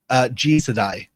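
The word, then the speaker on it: Jisedai: That's how you pronounce it? Jisadai.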